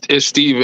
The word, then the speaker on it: Stephen: It's Steven. It's Steven. You were saying it wrong, but Steven, same person.